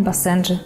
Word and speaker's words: басенджи: первого бассейна Как правильно басенджи или басенджи допустим оба варианта считаются но все-таки Правильнее говорить басендже с ударением на второй слог Каковы особенности характера бассенджа